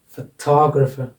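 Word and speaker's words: photographer: इसमें फोटोग्राफर, फोटोग्राफर, इसमें यहाँ आ जाएगा फोटोग्राफर, सफिक्स से पहले वाले सिलेबल पर वर्ड स्ट्रेस लग जाएगा।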